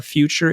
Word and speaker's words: Futur: And you can find us at The Future Is Here. And the future is spelled without an E. So it's Futur. Just remember, drop the E, go, and you'll be fine.